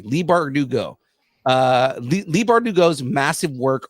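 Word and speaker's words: Leigh Bardugo: Lee Bardugo, that's what it was. I was trying to remember how to pronounce her first name because Curtis Corona will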